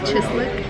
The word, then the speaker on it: chislic: to go eat Dakota steak house so it's pronounced chislic yeah oh my God as soon as it